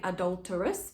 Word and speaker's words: adulterous: am big pentameter there there are a few things you need to pronounce a little bit unusually foul adulterous so we get the idea that they're calling or a hoe and you need to actually sort of say adulterous because that's how the rhythm